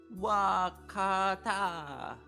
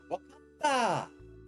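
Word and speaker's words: 分かった: That kanji is pronounced wa in this case. Wakata. Yep. Wakata.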